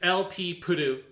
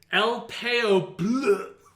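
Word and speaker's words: Elpeo Puru: my number nine is lp purdue from double zeta sean you're saying it wrong it's lp it's el payo blue blah blah blah blah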